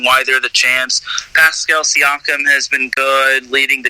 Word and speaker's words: Siakam: Absolutely, Siakam. That's how you say it.